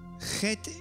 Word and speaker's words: Chet: Chet is pronounced ch from the back of the throat, similar to the Scottish word Loch.